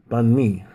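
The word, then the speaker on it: bánh mì: to have maybe here I'll have something called bunme it's spelled b a n h dashmi uh boom and then I should have another word Buu n dasme and that's the easier way to pronounce bunme um there's even a restaurant called bunme but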